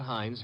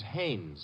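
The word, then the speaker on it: Haines: Not Hines. Hannes. Couldn't be. Honeyberg. No, it couldn't be. The name is Hannes.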